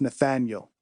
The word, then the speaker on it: Nathaniel: How to pronounce Nathaniel. The Southern folks say the A out long ways.